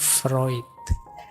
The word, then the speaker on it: Freud: Teori defense mechanism ini kan terkenal sekali antara lain dari Sigmund Freud. Dulu pernah kita bahas beliau ya yang terkenal dengan psikoanalisisnya yo tulisannya Frewood yo bacanya Freud. Awas keliru cara bacanya.